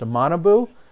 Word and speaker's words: Manabu: And thanks to the internet, I have been officially corrected that it should be pronounced Manabu.